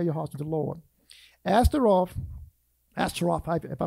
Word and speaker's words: Ashtaroth: Ashtaroth, if I pronounce it right, is the plural form of Ashtoreth. One is pronounced Roth, R-O-T-H. The other one is Rep, R-E-T. Roth is the plural form.